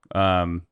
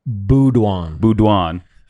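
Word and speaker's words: Beaudoin: Bedoin? How do you say? Boudouin. We're so sorry. We're still getting their names as well. We called them Bedoin. Then the announcer's like, Boudouin.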